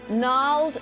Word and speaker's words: gnarled: Billy, in language, which letter is silent in the words gnarled, gnat and gnome? G. Correct.